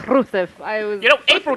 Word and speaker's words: Rusev: All three of them They do roll their pronounced it. Rs. Yeah, they all were like Rusev.